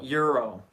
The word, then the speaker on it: gyro: But I guess it's spelled with a G and it's pronounced with an E.